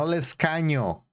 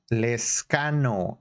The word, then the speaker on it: Lescano: Lescano, no Lescaño, Lescano. He already told you how to say it.